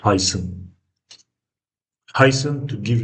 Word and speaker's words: heiße: This this sound as you remember from alphabet This is s z sound that is more pronounced as so.